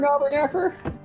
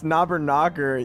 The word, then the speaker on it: Knobberknocker: Isn't it Copper Knobberknacker? It's Knobberknocker.